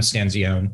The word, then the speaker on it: Stanzione: and the italian stencilian but uh i'm a stanzione yes i love it when there are family disputes on how to spell or pronounce last names my name's been butchered my